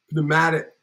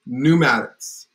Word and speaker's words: pneumatic: that word putting them up putting you could pneumatic but I know the last part is Maddox